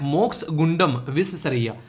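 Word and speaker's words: Mokshagundam Visvesvaraya: इसको बोलते हैं मोक्ष गुंडम विश्वेश्वरैया।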